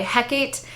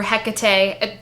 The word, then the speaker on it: Hecate: Um so Sophie's magic is awakened in the first book by Hecate or Hecate different pronunciations and um at the